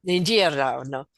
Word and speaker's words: Giordano: Is that how you pronounce it? Giordano. Giordano.